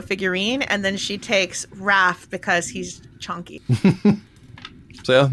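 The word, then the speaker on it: Hrafn: It's actually spelled H-R-A-F-N, but it's pronounced Raph, Weird.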